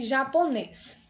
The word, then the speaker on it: japonês: No caso da palavra aqui, japonês. Japonês. Japonês. Nes, bem forte. Então, esse nes, pessoal, é agudo, é a sílaba tônica, aquela mais forte.